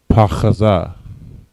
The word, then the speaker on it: pachaza: All right, and the word unstable in Hebrew is pachaza. All right, pachaza. All right, each letter is independent. Pa, cha, and za. Pachaza. Next word, the word up.